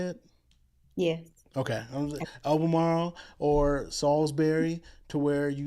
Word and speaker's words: Albemarle: is that how you say it yeah okay Albemarle or Salisbury to where you you can have